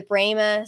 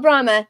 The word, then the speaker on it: Brahma: the Brahma or the brma sorry I went to a school that their mascot was brma no it's called Brahma we called it a brma I don't know why we mispronounced it um and those are